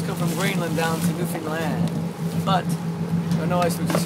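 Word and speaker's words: Newfoundland: peninsulas of New Finland New Finland is how it's pronounced here I'm going on a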